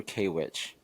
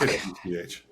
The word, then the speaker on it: KWCH: So to Troy, TKG, and Carbon: do you pronounce it KWCH or Kwitch? Oh, KWCH. KWCH. yeah, dude. All Wait, letters. how did you say it? Kwitch. Kwitch. K-Witch? Who the hell says Annette, K-Witch?